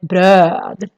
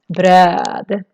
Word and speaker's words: bröd: And here also the the O with two dots, is very long because we have just one consonant coming after. So it sounds like bröd, bröd.